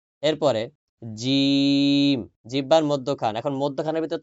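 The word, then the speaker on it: ج: এরপরে জিম, জিহ্বার মধ্যখান। এখন মধ্যখানের ভিতর তো ক্যামেরা নিয়ে দেখানো সম্ভব না, তাই না? জিহ্বার মধ্যখান তার বরাবর উপরের তালুর সঙ্গে লাগিয়ে উচ্চারিত হবে জিম, মধ্যখান থেকে।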